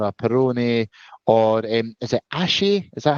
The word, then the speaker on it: Asahi: I do like a Moretti or a Peroni or is it Ashi? Is that how you say it? I can never pronounce it Asahi, right.